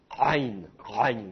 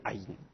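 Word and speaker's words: עין: Mais donc normalement ça se prononce rein, comme ça. Bon, c'est pas évident à prononcer, surtout pour des Français. En hébreu moderne, si vous allez en Israël, en général, cette lettre, elle est prononcée comme le aleph, c'est-à-dire qu'on va dire aïn.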